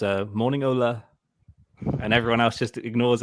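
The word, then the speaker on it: Ole: totally wrong interestingly um everyone pronounces his first name wrong don't they because everyone says olly yeah and it's actually ola whenever you watch the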